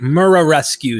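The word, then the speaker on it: Muraresku: Murarescu. I try to pronounce that correct. Murarescu is pretty much how it looks in English.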